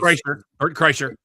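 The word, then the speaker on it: Kreischer: Bert Cretcher. I don't know how you Chryser. Yeah. Okay. Say it. Thank you. I can't pronounce it.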